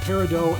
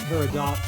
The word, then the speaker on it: Peridot: Peridot and Peridot are both legitimate pronunciations.